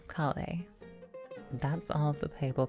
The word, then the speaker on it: Collei: So we'll just go with the in-game name and call her Collei.